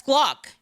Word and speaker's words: Glock: That's Glock. Glock rhymes with I figured it out.